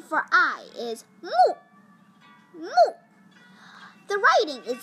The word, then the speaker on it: 目: The pronunciation for eye is mu, mu.